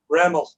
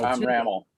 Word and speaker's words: Rammel: No, Rammel. Ramel. Tom Rammel. Yeah. Pardon me. Ramel. Right. How do you spell that?